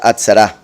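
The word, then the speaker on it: עצרה: seret comprobado por la palabra en hebreo traducida como asamblea pronunciada atsara que es otra forma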